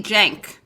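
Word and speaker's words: Cenk: have nothing chenkyuger's dick it's actually jank jack it's pronounced turkish but um that's what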